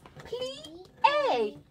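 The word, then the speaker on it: plié: Plie.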